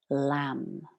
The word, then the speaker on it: Lam: And into this energy center, I'd like us to drop the syllable Lam, L-A-M, Lam.